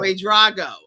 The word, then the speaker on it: Wade-Drago: going to make sure I say the name, Wade-Drago. Wade-Drago. And it's okay. It's Sonia Wade-Drago. I respond to who, I know who you're talking to when you call that name. I know what you're saying. So. Wade-Drago.